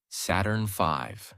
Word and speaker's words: Saturn V: The rocket they used was called Saturn V, pronounced Saturn V.